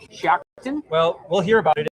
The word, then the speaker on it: Shiocton: Maybe a five maybe a five and those communities uh There's one that I always mispronounce, Shiocton. Yes. S H I O C T I O N, Shiocton.